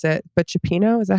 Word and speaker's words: cioppino: He posted or came up on my TikTok feed of him cooking, I don't know how to pronounce it, but cioppino, is that how you say it? Yeah, cioppino.